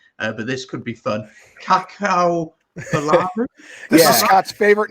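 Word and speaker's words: Apenisa Cakaubalavu: Kakao Balavu? This is Scott's favorite name to pronounce. So one of my favorites. Get this right. Ready? 3, 2, 1. Apanisa Kakabalavu.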